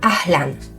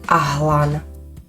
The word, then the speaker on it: ahlan: ľudí ahlan bí kum pamätajte si že v arabčine sa L vyslovuje mäkko mäkšie ako v slovenčine Takže nepovieme ahlan ale ahan ahan A ako sa povie dobre